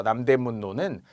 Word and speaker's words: 남대문로: 표에를 쓰는 거 자 그런데 발음대로 가야죠 남대 문노는 일종에 남 문 뒤에 붙은 거라서 일종의 유음화의 예외가 되면서 남대문 노 남대문 노 이렇게 니은 니은으로 표기하는 거 태평로 태평 플러스 로가